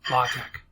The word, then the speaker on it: LaTeX: it's a mathematical type setting language and it's pronounced logic so i've already set up the instruction portion